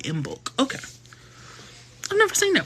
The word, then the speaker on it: Imbolc: Oh, that's how you say it, Imbolc.